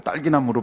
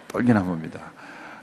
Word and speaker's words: 떨기나무: 어떤 분은 이 불타는 떨기나무 자꾸 딸기나무로 발음하시는 분이 있는데 떨기나무입니다.